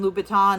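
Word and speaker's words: Louboutin: So, I watched this whole video about what inspired Christian Lubbouton and oh, I said it right that time.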